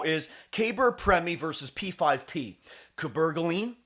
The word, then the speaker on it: cabergoline: caber premi versus p5p cabergoline that's how you say it cabergoline versus p5p p5p